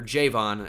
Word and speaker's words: Javon: bit but he's definitely good CJ Gardner Johnson Javon Hargrave or Jayvon actually it's pronounced John Franklin Myers we know about Zach